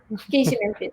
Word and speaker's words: KC Mempin: I am with Miss KC Mempin. Did I pronounce it properly? Thank you. Yes. KC Mempin.